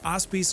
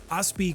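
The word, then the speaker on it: Aspis: and that would be the auspy's Consortium or the ospi Consortium depending on how you pronounce the S they are a criminal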